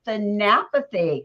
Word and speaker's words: Thanapathy: so i'm welcoming lavinia than apathy correct fabulous and then that is brilliant it's the puppy it's said the way it's spelt it's but i'm so